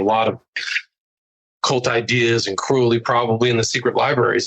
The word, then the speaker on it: Crowley: Hey, you're pronouncing Crowley wrong. It's Crowley. It's like holy.